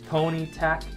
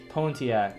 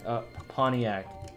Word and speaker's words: Pontiac: i said it wrong i think i said it wrong hold on guys i i gotta say it right i get mad when i say things wrong what how do i say it let me see pontiac a pontiac okay something like that at least i'm close enough at